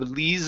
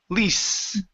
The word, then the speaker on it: lease: next one is lease this is going to be an unvoiced sound instead of lee's a car lease lease there you go